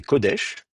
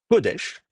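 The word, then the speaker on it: קודש: que bon voilà c'est codèch la sainteté codèche. Donc là c'est pareil vous allez avoir l'accent sur la première syllabe qui est un ou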